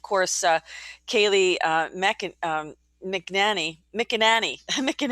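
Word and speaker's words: McEnany: on the spotlight here it's mick and annie that's her her name and i think she's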